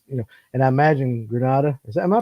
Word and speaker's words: Grenada: the light gets you know and I imagine Granada am I pronouncing it right as a grenade yes people say Grenada people I mean I think eventually it's gonna